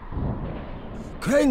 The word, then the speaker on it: Crane: Crane rhymes with train and brain and sane and grain and rain and plane and the other kind of plane and...